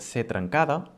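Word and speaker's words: ce trencada: And it's pronounced anyway as the normal C, the C.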